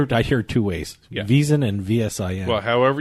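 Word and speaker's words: VSiN: Network reason so that's I want to be correct when I pronounce this I don't I don't say out the whole vsi n it's visa I say visa I thanks a visa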